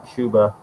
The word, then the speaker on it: Chuba: I found out that's how you pronounce the name, Chuba. Because it doesn't have the double B.